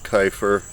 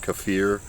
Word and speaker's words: kefir: we do drink homemade Keifer every day although I guess that's pronounced kefir yeah kefir we just call it Keifer I mean it's a habit hard to break but we drink